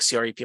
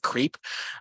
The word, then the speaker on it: CREP: You all pronounced it like, or CREP, I think CREP, like the soft E. In my head, when I first learned about it, I always pronounced it creep.